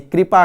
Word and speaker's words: कृपा: बाद आएगा री, और यहाँ पर क्री यानी कि क के साथ री जुड़ा हुआ है, इसलिए हम इसका उच्चारण भी कृपा करते हैं, है ना।